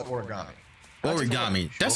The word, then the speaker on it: origami: Origami. That's how you say it. Okay, so I said it right the first time. Origami.